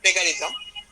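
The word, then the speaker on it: plagiarism: দেন একটা আরেকটা জিনিস বলি যে আরেকটা লাস্ট একটা হলো প্লেজিয়ারিজম, যদি এটার একটা উচ্চারণ হলো প্লেগারিজম।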